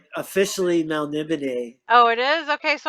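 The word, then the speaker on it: Melniboné: it's officially Melnibone.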